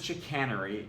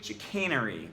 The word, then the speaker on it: chicanery: The word itself means trickery or deception, and its pronunciation is obligingly tricky. You thought it was chicanery, it's actually chicanery.